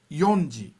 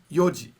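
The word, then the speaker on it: 四時: it's never shiji and it's never yonji it's always yoji koji five o'clock six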